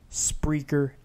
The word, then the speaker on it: Spreaker: are downloading the free Spreaker app it's like speaker but with an extra are so it's not a lisp it's not a speech impediment that's how it's pronounced and the logos of